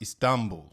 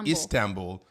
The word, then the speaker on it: Istanbul: Our Turkish neighbors have said that it's pronounced Istanbul, not Istanbul. They say Istanbul.